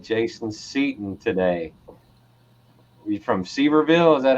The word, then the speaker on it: Sevierville: You from Sevierville? Is that how you say that, Jason? Sevierville.